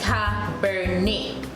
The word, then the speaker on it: Cabernet: However, in French, they will take out the T and you will be remained with E. So it is Cabernet.